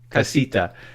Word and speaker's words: casita: suite and the Southwest I'll probably you know mispronounce it so they call it cassis t'as is that true casita okay but in the labor rich household you